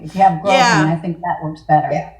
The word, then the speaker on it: grosgrain: I think it's called grosgrain. Grosgrain? No S, Oh, yeah. There's an S, but you don't pronounce it.